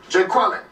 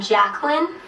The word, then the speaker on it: Jacqueline: let's take roll here Jay Quellin we're still quite a net no Jay Quellin here you mean Jacqueline okay so that's how